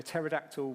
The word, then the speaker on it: pterodactyl: to hear when a pterodactyl was going for a wee? This is classy. I'm sorry, children. Anyone? No? It's because the P is silent.